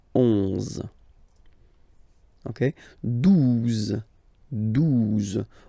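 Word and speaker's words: douze: Okay, 12. 12. O-U, the two together will give you the sound OO. Okay, and then Z. 12.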